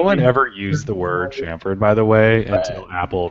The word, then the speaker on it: chamfered: I think it's Chamfered? Chamfered. Pretty sure it's chamfered. Unless you're in an Apple video, that's chamfered. Chamfered. Okay, just making sure. No one ever used the word chamfered, by the way, until